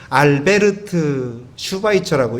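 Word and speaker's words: Albert Schweitzer: 그런데 이 알버트 슈바이처는 독일 사람이기 때문에 어떻게 읽냐면 알베르트 슈바이처라고 읽고요.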